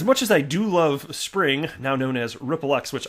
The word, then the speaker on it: Xpring: But I was like, Xpring, and that's the way everybody says it before they hear it properly said. So it's pronounced Spring, but there's no way